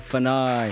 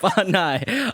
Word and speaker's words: Fanai: I was going to ask you, do I say it right? Fanai. Is it Fanai? Fanai. Fanai. See, I knew I would get it wrong. So Fanai is like American version, though, too.